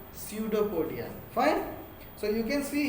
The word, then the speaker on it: pseudopodia: Same way here, P is silent, pseudopodia.